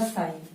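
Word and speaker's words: psi: पी वाला silent रहेगा तो ये रहेगा साइन, ठीक है।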